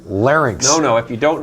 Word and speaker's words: larynx: it's over nice learning quietly it's no it's pronounced larynx no no if you don't larry larry thing